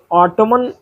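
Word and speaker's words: autumn: एलुमनी देखिए Ottoman ऑटम column और Solomon यहां इसमें अंतिम अक्षर एन जो है वो आपका साइलेंट रहता है। इनमें ऑटम, कॉलम और सोलम पढ़ा जाता है।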